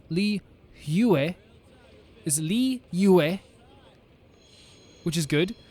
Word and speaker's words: Liyue: Liyue is pronounced Liyue.